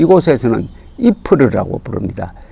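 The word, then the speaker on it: Ypres: 열로 표기로 는 y pres 이 2ls 이렇게 발음이 되는데 이 곳에서는 이 푸르 라고 부릅니다 이 풀을 하면은 저 전사에 관심을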